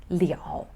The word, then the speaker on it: 了: the ability belie all so you have to pronounce it as leo the last one le which is used to